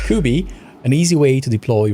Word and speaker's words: Kuby: Kuby thank you Cameron pronouncing ing it sometimes was difficult I kept calling it cubby I don't know why but it sounded right so kooby an easy way to